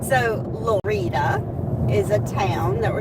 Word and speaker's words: Lorida: So, Lorita is a town that we're going to be going through. It's spelled like the word Florida without the F.